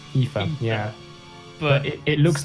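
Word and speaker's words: Aoife: based on this perhaps I put this pronounced Eva Eva yeah but it looks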